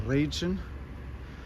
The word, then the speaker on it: Radchen: This is the Radchen, or as it would be pronounced in German, the Radchen.